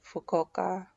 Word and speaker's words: Fukuoka: it because I only saw like Tokyo and Fukuoka, and that's how you say it.